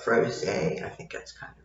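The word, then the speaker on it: Frosé: But it has an accent on the E, so instead of froze, it would be what, froze?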